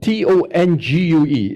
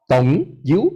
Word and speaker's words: tongue: Like, for example, T-O-N-G-U-E is pronounced as Tong you? No, it's not, right? It's pronounced as tongue, right? T-O-N-G-U-E is pronounced as tongue.